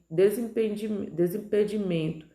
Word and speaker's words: desimpedimento: Desimpedimento, no caso, desimpedimento é tão grande, mas cai no men, né? A sílaba tônica está posicionada na penúltima sílaba.